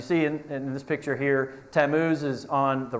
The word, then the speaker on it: Tammuz: How would y'all pronounce it? The name of the idol. I just want to be curious. Tammuz. Hey, perfect. Good job, Matt Heinley. No, hey, you got it. So, Tammuz.